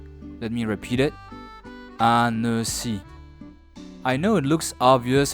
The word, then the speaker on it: Annecy: Well, if you remember correctly, when the letter C is followed by the vowels E, I, or Y, it must be pronounced S as an S, similar to English. Last, at the end of a word, the letter Y sounds like an E if you remember, so that gives annecy.